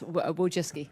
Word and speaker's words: Wojcicki: Excuse me, Wojcinski, is that how you pronounce it? Yes, Wojcicki. Wojcicki, okay.